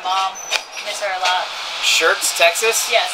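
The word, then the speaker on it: Schertz: It's spelled with S-C-H-E-R-T-Z. Okay, so but it's pronounced like shirts.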